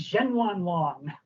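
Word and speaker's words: Zhenyuanlong: It is this dinosaur, this new species, and you pronounced it beautifully, I have to say. This is Zhenwanlong, the new raptor dinosaur.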